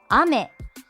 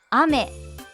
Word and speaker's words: 雨: 発音は雨。雨、雨。